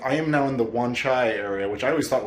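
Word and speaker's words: Wan Chai: And I am now in the Wanchai area, which I always thought was Wanzai because of Shenmue. It's Shenmue 2 specifically was like, "Oh yeah, this is pronounced Wanja Wanzai."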